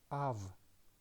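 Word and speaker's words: אב: The first letter is Aleph, but Aleph is a silent letter. It doesn't have any sound. That is why we do not pronounce it, and we go to the vowel, and the vowel is kametz, and it is pronounced as A. And the final consonant is bet, but it doesn't have dagesh, so that is why it is pronounced soft as V. So we can read this word as Av, and the meaning is father.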